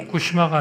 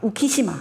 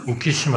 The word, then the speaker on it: 우키시마: 조선인 7천명을 태운 회 그게 후쿠시마가 아니라 우키시마 우키시마 예 제가 발음이 안